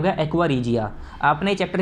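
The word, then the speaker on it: aqua regia: हैं बच्चों कहते हैं एक्वा रीजिया। स्पेलिंग एक्वा रीजिना लिखा है, एक्वा रीजिना नहीं होता, एक्वा रीजिया होता है, ठीक है।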